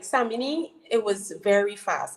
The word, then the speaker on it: Samini: That's how you pronounce it, right? Yeah, Samini, yeah.